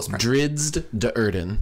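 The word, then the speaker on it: Drizzt Do'Urden: or drizzed Durden or it's very pronounced it's every syllable drizzed de Urban yes drizzed and oh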